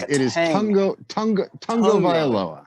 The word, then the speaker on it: Tagovailoa: From what I've heard, there's apparently an N that's supposed to be pronounced in there. It is Tungo Vailoa.